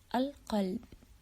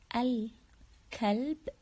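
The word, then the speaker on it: القلب: just like the word al-qalb. If you say it like al-kalb, not qa, the qaf letter here, it's heavy. We say al-qa, al-qalb.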